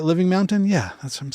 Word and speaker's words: Living Mountain: Living Mountain?